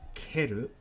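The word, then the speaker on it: 蹴る: refuse to reject or to stomp on is keru other pronunciations are shuku or sho with our leg completing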